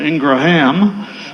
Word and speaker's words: Ingram: My grandmother would have insisted on the proper pronunciation, Ingraham, but Ingram was okay.